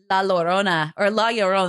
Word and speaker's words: La Llorona: as we mentioned, the hook hand dude, and La Llorona.